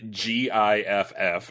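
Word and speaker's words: gith: half of them saved with a hard g and half with a soft g disagreements over the correct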